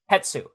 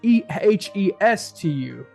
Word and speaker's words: Hestu: Hetsu. Hetsu. It's Japanese het and then su. Oh, Hetsu. Okay, because it's Hestu. No, TSU. It's Hestu, my guy. Is Hestu?